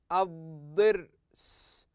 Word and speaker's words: الضرس: نهض هذه الكلمه اض لاحظوا اض هذا الحرف لم ينطق اطلاقا اض ضر اض ضر الضرس الضرس الضرس هذه الكلمه حضر حضر